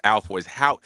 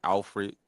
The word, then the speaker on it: Alford: Like my last name is Alford. It's spelled how you should say it. Alford, and everybody be saying Alfred and all that goofy, but the goofy.